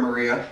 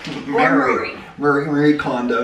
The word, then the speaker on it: Marie Kondo: Don't worry, Maria. Kondo. Mary. Marie Kondo. Don't she worry. Pronounces it Mary, I think.